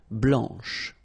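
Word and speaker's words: blanche: and then Blan okay remember when you combine this C you get the sound sh blanch okay so BL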